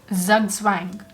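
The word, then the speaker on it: zugzwang: that he will lose zug swang that's how it's pronounced wang so those were the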